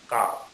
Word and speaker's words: calf: Next line, cause does not have a काउ, काउ CALF काउ, एल जो है silent.